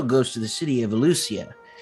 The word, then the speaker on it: Alussia: to the city of ellucia lucia sorry no it's the beak sometimes i lose some syllables um yes the city of ellucia uh it's uh i